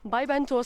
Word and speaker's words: Vallventosa: de tourisme de corbère il faut bien le prononcer parce que les gens qui sont pas dues si ils vont te dire saint jude yade vendant tout ça non by van tho ça ce qui veut